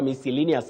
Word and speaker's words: miscellaneous: of this word, pronouncing this word is commonly heard as miscellaneous. I'm going for a miscellaneous application. Avoid that. You say miscellaneous. Miscellaneous application, miscellaneous items, and all that, not miscellaneous.